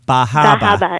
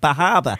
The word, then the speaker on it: Bar Harbor: which which is pronounced bahaba and so uh yeah so you know because the r is often dropped yeah yeah in meain yeah that region right bahaba and so uh so